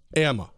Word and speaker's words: Amma: Now, it's Amma.